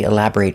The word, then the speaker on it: elaborate: If I use this word as an adjective, the pronunciation changes. If it's not a verb, it's elaborate. Making a short sound.